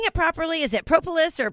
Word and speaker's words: propolis: And so for people that don't know what Bee Propolis is, am I saying it properly? Is it propolis or propolis? Most people pronounce it propolis, but as it is with